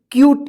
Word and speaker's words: cute: CUTE, क्यूट। इसको कूते मत पढ़िएगा, क्यूटे मत पढ़िएगा, ठीक है ना।